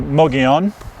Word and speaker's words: Mogollon: wants to say Mogollon Melania but it's actually mo Gyan anyway yes and we're working on some content